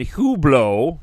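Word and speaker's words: Hublot: die happy and then hublo which I found out that's how you pronounce it the internet lied to me comes along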